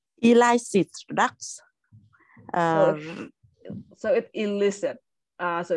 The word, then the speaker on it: illicit: excellent all right elicit products um so it illicit uh so it's actually pronounced as e so illicit drugs illicit drugs excellent I think it does decrease